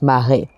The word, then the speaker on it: mare: But it's not pronounced mer, it's mare. Potentially with a double E, I think.